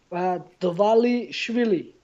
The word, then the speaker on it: Dvalishvili: Pronounce it for me. Dvalishvili.